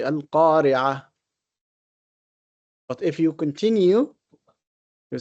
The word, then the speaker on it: القارعة: And when we pronounce القارعة, we say القارعة. But if you continue, you say القارعة ما القارعة. So the ta would be pronounced if you continue, if you connect.